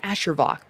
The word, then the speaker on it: Asher Vark: You get so lucky because people either pronounce my name Asher Vark for some reason or Asher, and I'm like, yo, style it down. It's Asher Vark or just Ash.